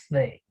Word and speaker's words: the: Traten de hacer la D, ¿no? Traten de pronunciar la letra D y es casi lo mismo, pero sí es mucho más, tiene mucha más aspiración, por así decirlo, en el sonido. No es D, sino es the, ¿sí?